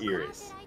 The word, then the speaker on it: Iris: Yeah, her name is spelled Iris, pronounced Iris.